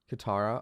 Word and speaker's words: Katara: gist of the story is how do you pronounce the girl's name katan katara katara oh it's kind of close so katara wants